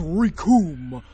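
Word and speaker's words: Recoome: As Raccoon was saying, the names! Raccoon! It rhymes with doom!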